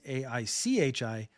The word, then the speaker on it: Aichi: It is going to be shifted to the Hepburn rules, which would spell it as A-I-C-H-I, Aichi, which is more phonetically similar to what the Japanese say.